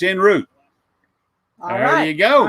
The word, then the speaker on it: en route: It's pronounced root and sherry. I said Cherie. Oh. It's sherry, and it's en route.